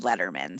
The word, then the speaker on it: Letterman: of my last name it's like david letterman so letterman like just think leatherman you know we were in